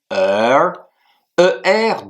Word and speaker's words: 而: Le premier caractère, c'est une conjonction de coordination qui se dit ER, deuxième ton et s'écrit de la manière suivante.